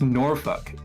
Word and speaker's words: Norfolk: It's called Norfolk. Oh, but it's actually pronounced Norfuck because it's British and it causes me